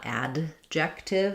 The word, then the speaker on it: adjective: we don't really say a strong D, not adjective, that'd be too hard to say, it's an unreleased D.